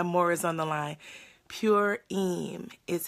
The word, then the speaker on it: Purim: Purim is how it's pronounced.